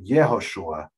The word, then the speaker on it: Yehoshua: and it was turned it was changed to yehoshua the letter yot was added and this this letter yod right j pronounced in english joshua you yoshua i think